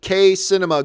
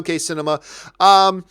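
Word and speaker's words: KCinema: new predator movie PS my name is pronounced Kay cinema good to know K cinema yeah I'm hearing good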